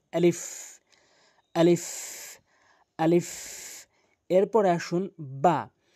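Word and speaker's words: ب: এরপরে আসুন বা বা হরফটি দুই ঠোটের দুই ঠোটের ভেজা অংশ মিলিত করে। দুই ঠোটের ভেজা অংশ মিলিত করে এভাবে উচ্চারণ করবেন।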